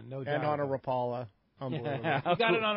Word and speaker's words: Rapala: No, Rapala. Okay, yeah, it was sure. on a Rapala. If you're from Southern California, it's still Rapala.